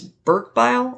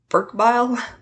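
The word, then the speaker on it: Berkebile: just W Bob okay I think it's pronounced the name is Burke bile I'm sorry um it's b e r ke e b i l e from again Burk bile Nelson love and Associates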